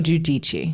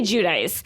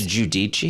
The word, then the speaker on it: Giudice: We used to say Judice, but Yeah. then they corrected us. Teresa has corrected us, not us, but Yeah. America. But it's Giudice.